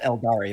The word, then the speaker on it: Eldar: Tau, It's pronounced Eldari, by the way.